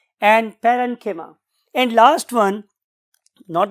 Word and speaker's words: parenchyma: तो बहुत से लोग इसे कोलेनकाइमा भी बोलते हैं, बट the true pronunciation is कोलेनकीमा एंड पेरेनकीमा।